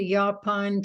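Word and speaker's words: yaupon: a shop in Savannah that is devoted to yaon teas this has elderberry it's tastes good I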